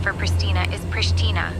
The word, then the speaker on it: Pristina: The local pronunciation for Pristina is Pristina, with a soft sh sound. It's a bit like saying Prish and then adding Tina at the end.